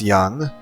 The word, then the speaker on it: Jung: Jung, pronounced young, sought to understand how different personality types interact with each other and ultimately how they affect society.